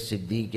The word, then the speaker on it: صدیق: سے پوچھیں کہ حضرت صدیق اکبر کے وجود میں کیا کیا شانیں پائی جاتی ہیں۔ یہ تو معنی میں نے کیا صدیق کے حوالے سے۔ اگر صدیق جو کہ اصل تلفظ ہے صدیق، تو اس کا معنی